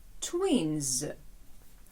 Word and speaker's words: twins: Н - це неглухий звук, а отже, закінчення після цього звуку має звучати дзвінко, і тому воно читатиметься z. Twins.